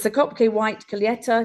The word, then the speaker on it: Colheita: So it's the Kopke white Colheita. Do you say Colheita? I never know how to pronounce it. Yes, colheita. Colheita. I Colheita.